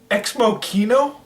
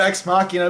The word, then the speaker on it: Ex Machina: Ex Machina? It's called Ex Machina. Now, I would understand if he said Ex Machina, because that's how it's spelled.